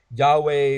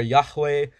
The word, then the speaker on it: Yahweh: letters that it translates to and people generally pronounce that Yahweh or Yahweh but they in the tradition of how it's